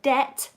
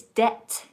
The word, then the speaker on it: debt: not sure the word debt it has a silent B so we don't say dead but its debt debt and it means money